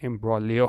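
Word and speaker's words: imbroglio: ठीक है, तो ये मैंने आपको बता दिया कि ये चीज़ है, इसको हम जी जो है वो क्या होता है? यहाँ पे साइलेंट होता है, और इसको हम बोलते हैं एम्ब्रोलियो।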